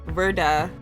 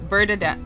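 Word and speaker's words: Werder: dedicated to Verda yeah it's Verda Verda bman he was a verman fan sorry you guys for the pronunciation it's hard for me to say these words and it's crazy cuz look it's spelled with a W but that's not how it's pronounced he also loved to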